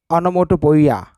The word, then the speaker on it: onomatopoeia: is not present onomatopoeia remember the pronunciation anamoto boya is a figure of